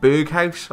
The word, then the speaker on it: Berghuis: going to be 84 Berghuis, I believe is how you pronounce it.